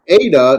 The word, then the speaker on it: eta: Okay, Yes, and the eta, now the eta looks like an N, an English N, but it's not. It's a vowel, and it's as in like an AY, as in eight, to eight.